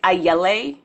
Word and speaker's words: Ayele: It's Ayele.